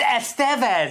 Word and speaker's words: Estevez: Oh, it's Estevez. It's not Estes.